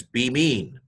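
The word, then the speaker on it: בימין: So this is be mean. Now don't be mean. That's not nice. But the word is pronounced be mean.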